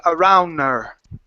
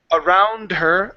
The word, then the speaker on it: around: not pronouncing the ending so when you're saying around her you're not pronouncing the D you're saying around nur ok you gotta get that d that d needs to jump out ok so around her